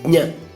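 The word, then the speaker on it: ज्ञ: Jna is a combination of J and Nya. So it should be pronounced like J first, then Nya. Jna.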